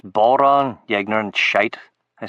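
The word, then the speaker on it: bodhrán: He's a Baldran. A human Baldran, Bob said until told him to quit it. He let me go. It's pronounced Boron, you ignorant shite, I said to Bob.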